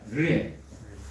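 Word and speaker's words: ראה: 르에. 한번 따라해볼까요? 르에.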